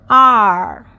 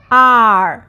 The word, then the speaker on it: 二: So, R. R. So, fourth tone, stomp your feet.